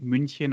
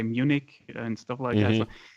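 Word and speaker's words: München: you in German because if I talk in English I don't say Minchin I automatically say Munich I also have the same problem but I try to pronounce it the way it is supposed to be pronounced same with for example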